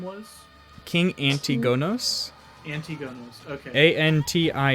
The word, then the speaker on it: Antigonos: his name was king antigonos okay a-n-t-i-g-o-n-o-s not agnomakos no so darren he rolled